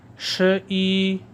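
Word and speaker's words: 十一: 100 تک چائنیز زبان میں ہند سے صحیح تلفظ کے ساتھ پڑھنا سیکھیں گے۔ چائنیز زبان میں 11 کو کہتے ہیں ش ای، ش ای، ش ای، ش ای۔ ش 10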